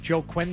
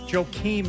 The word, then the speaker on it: Joakim: I can't even remember how to pronounce his first name. Joe Quinn Noah? Joe Quinn? Joakim Noah.